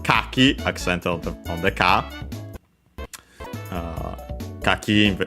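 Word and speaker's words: 柿: Kaki, as we have seen, unaccented, the one for persimmon.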